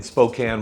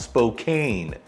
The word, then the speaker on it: Spokane: First, let me start by telling you that our wonderful city is not pronounced Spokane. And it's not wet and dreary like the other side of the state where I think there are more slugs than there are humans. Our city is pronounced Spokane, and our weather is